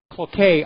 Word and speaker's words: Cloquet: Now, apparently the factory that produces diamond matches and toothpicks, Cloquet, I think it's pronounced, is going to close.